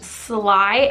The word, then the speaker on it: Slaai: This is the, I think it's pronounced Slaai, S-L-A-A-I, Makeup Melting Butter Cleanser.